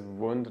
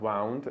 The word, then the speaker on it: wound: Yeah, we read this wound, not wound.